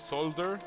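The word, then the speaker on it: Zolder: in belgium it's called solder solder in dutch that's how they pronounce it and they do endurance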